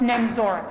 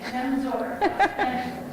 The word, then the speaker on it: Nemzora: It might be easier for everyone if we go with Nemzora, Nemzora. because they don't know what to do with that Z. Nemzora.